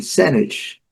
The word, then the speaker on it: sandwich: Sandwich. A sílaba forte que você tem que caprichar, sandwich.